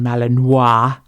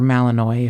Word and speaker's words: Malinois: in Vacaville prison, and she is a Belgian Malinois. Yes. Or Malinois if you're me, but a Pronounce Belgian it correctly.